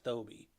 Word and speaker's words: Thoby: It was just a weird pronunciation of Phoebe, but no, it's Thoby.